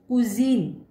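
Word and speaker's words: cuisine: it comes before e, अगर s word के middle में आता है और e से पहले आता है, comes before e, तब इसका प्रोनाउंसिएशन और उच्चारण होगा जी, जेड, जी।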